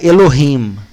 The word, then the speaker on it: Elohim: de chamar atenção aqui a pronúncia do termo Elohim a pronúncia correta seria elorrim mas nós estamos lendo Elohim durante o estudo o